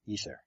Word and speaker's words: ether: the substance of of space what is the ather if I'm pronouncing that correctly yeah e ether it's spelled in two different ways e t e